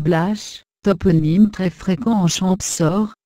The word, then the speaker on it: Blache: Les Blachus, dérivés de Blache, prononcé Blache, toponyme très fréquent en Champsaur, signifiant bois, taillis.